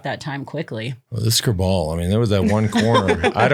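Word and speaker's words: Kerbaol: Citrine Kerbal, yeah.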